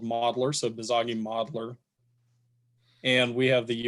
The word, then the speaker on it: Bizagi: I always mispronounce it, but Bizagi is how I pronounce it. I think it might be BizAgi because it's Business Agile is what it stands for.